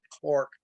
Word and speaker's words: Clerk: to 1781 when John Clark of Scotland it's spelled clerk but the Brits pronounce it Clark so instead of insulting